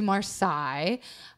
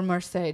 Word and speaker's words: Marseille: the road south to Marseille or Marseille depending on how you say it depending how old MRSA